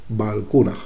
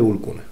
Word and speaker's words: Balkuunah: que se pronunciaba así, pero ahí está, Balkunaj. Así que ya nos tenemos que olvidar de Bulkuna, ¿vale?